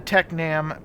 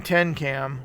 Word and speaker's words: Tecnam: of the plane wrong I was saying 10 cam when it was really Tech Nam so I want to